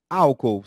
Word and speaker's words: álcool: graficamente vejamos na tela álcool separação silábica primeira sílaba al segunda cor e a terceira ou álcool alcoólico ao com o Lico palavra toda pronunciada só com o mesmo alcoólico e Álcool certo mas são proparoxítonas circulo